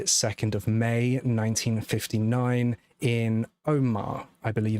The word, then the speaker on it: Omagh: Trevor Buchanan was born on the 2nd of May, 1959 in Omagh, I believe it's pronounced, which is also in Northern Ireland, to parents William Buchanan and Elizabeth Wilson.